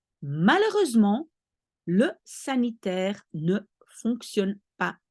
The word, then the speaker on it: malheureusement: The H in French, you never pronounce. So you don't say malheureusement, there is an H, but you say malheureusement.